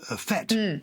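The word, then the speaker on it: fête: and tells us that in the us it's pronounced fete oh there you go but in english we say fate so often the americans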